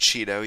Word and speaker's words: Chido: I believe it's pronounced Cheeto. You can correct me if I'm wrong.